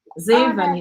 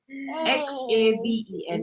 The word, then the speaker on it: Xaven: 6, So his name is Zaven, which spelled with an X like Xander. Xaven like heaven.